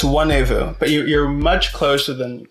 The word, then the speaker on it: Nwanevu: The only difference is the N is silent. It's Nwanevu, but you're much closer than many people get.